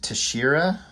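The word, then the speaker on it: Texeira: I've been instructed his name is pronounced Tashira, but his painting work is amazing.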